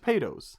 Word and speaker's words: Topadoes: Topados. Yeah. You know? You're always pronouncing it with the D.